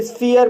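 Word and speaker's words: sphere: एस को आधा सा पढ़ा जाएगा। पी एच को फ पढ़ा जाएगा और इ को इ आ पढ़ा जाएगा। आर को र पढ़ा जाएगा और ई साइलेंट रहेगा। इस तरह से इसे स्फीयर पढ़ा जाएगा।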